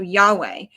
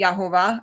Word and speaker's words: Yahweh: So Yahweh. Some people say Yhovah or Jehovah.